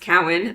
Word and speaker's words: Cowan: And I'm Cowan, it's pronounced Cowan, and you can reach me, that sounds okay